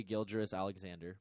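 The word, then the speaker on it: Gilgeous-Alexander: point guard or shea Gill juris alexander by the way a Guilder solid that's how you say his name that's like so much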